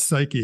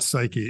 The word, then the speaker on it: Psyche: have to talk about psyche because we're we're psyched about psyche and yes we are it it is pronounced psyche it's not psych I'm pretty sure it's